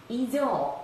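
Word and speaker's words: 異常: 이상이 있다 라고 할 때는 이조 라고 읽는다는 것 같이 참고해 두시기 바랍니다.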